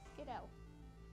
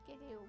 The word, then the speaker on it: Skiddo: For some reason, when I first heard that name, I was tempted to say Skiddo, Skiddo. Okay. even though it's pronounced Skidoo, but a lot of people say Skiddo.